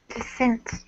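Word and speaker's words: dissent: concur con andent uh I descent desent the key here anna is the second syllable stretch uh you got to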